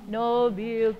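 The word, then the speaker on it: nobiltà: The last stress is on ta, because there's an accent on it. Nobile ta.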